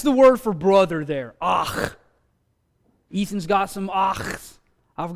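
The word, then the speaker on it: אח: This is one of the simplest and easiest Hebrew words to pronounce, so somebody do this one for me. Exactly. It's ach.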